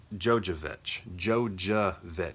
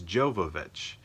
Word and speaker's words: Jovovich: Mila, gosh, I always say Jovovich. No, I don't even say that. I say her name completely wrong. Mia, I probably call her Mila or Mia. I honestly don't know which one I do. Jojovich, which is completely wrong. Jojovich? No, it's Jovovich.